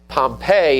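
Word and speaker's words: Pompeii: Pompei is how you pronounce the city.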